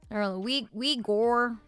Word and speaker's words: Uyghur: Uyghur is the common way to pronounce it.